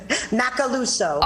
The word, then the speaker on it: Macaluso: Macaluso.